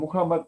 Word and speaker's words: Muhammad: Mahoma, Mahomet, Sí. su nombre es Muhammad, y por suerte en el idioma inglés se escribe y se pronuncia de la misma forma.